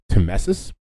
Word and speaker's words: tmesis: Timesis.